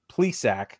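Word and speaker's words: Zach Plesac: Rosario Shane Bieber Cal Quantrill Josh Naylor Zach please sack that's how you say his name Aaron savali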